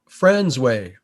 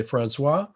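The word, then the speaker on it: François: the coast is uh friendsway as it's pronounced on the newfoundland south coast you might say francois but they like to say friends way and it's just a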